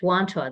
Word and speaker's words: Wantagh: awesome you actually you were you were perfect wanto that's how it feels awesome so what i'd